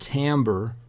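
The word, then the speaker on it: timbre: characteristic it's spelled ti mbb re but it's pronounced Tambor is usually the way that I hear that pronounced and Tambor is more or less associated with what you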